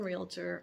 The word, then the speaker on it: realtor: a baccaho operator so there are two syllables in realtor although if you didn't know that or you mispronounce it you are not alone there are plenty of people who call real or who throw a syllable into realtor including some long-time agents